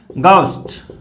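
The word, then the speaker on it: ghost: अब इसको हम घोस्ट पढ़ते हैं, बट ये होता क्या है, गोस्ट।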